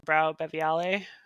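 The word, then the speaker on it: BrauBeviale: And so I got to go to a conference called Brau Beviale. I think it's how you pronounce it.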